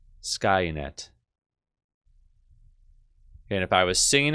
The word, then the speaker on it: Skynet: So I'm going to write this out phonetically as I can without really using IPA. Ska. Net. Skynet.